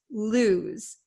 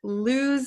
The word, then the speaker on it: lose: so make sure you understand the pronunciation loose lose it's not Lo and it's not loose okay it's loose Z okay this s sounds like a z lose lose so what